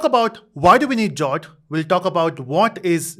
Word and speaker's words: JWT: others will also try jot oh this jot JWT stands for Json web token in short we call it as jot because it is easier to pronounce so we'll say jot